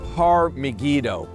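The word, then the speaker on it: Har Megiddo: The word Armageddon is a bad Greek pronunciation of the Hebrew word Har Maggido, Mount Megiddo.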